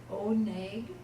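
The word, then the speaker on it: עונג: The accent of both of these is on the first syllable, oneg and Kodesh.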